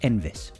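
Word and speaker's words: Enfys: means rainbow so there you go and it's pronounced envis all right so envis nests uh is immune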